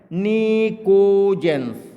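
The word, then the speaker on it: pnictogens: देखिए पी एन आई पी यहां silent है। निकोजेंस। ठीक है?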